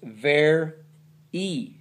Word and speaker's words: very: It's not ver y, it's ver e. Very. You know that word, very? Very. Yeah, that y at the end of a two syllable word makes the long e sound. Ver e. Not ver y, ver e.